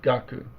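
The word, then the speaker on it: 学: So how is this character pronounced normally by itself in Japanese? Gaku.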